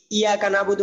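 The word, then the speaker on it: إِيَّاكَ نَعْبُدُ: তো ইয়া ইয়া মানে যেটা হোক তাজিদ থাকে এটা দুইবার উচ্চারণ করতে হয় আর কি। ইয়া অনেকে ইয়া কানাবুদু বলে, হ্যাঁ তো এই ভুলটা যাতে না হয়।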